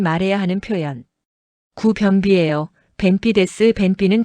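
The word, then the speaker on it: 便秘: 벤삐는 변비. 한국어 변비랑 발음 거의 동일.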